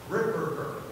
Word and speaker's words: Ripperger: Let me pronounce his name for you. It's Father Ripperger.